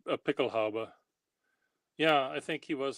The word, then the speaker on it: Pickelhaube: Is that how they pronounce Pickelhaube.